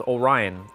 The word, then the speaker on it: Orion: tell people my my my name is Orion. O R I O N. I spell it out for them, too. And they they're like they are like Orion. Like yeah, the Star Belt.